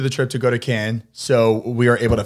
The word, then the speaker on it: Cannes: because David went to Cannes Film Festival. He left a Cannes. You don't pronounce the S.